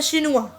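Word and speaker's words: chinois: लिखने में आप देखो चिनोएस है और बोलने में शिनुआ, ठीक है ना। और अगर हम इसको फेमिनिन में देखें तो आगे शिनुआ तो रहेगा, लेकिन आगे क्या लग जाएगा, ई लग जाएगा, प्रोनाउंसिएशन तो सेम रहेगी ना।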